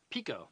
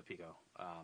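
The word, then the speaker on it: Pekoe: So it looks like it's pronounced Pico. Pico, that's it.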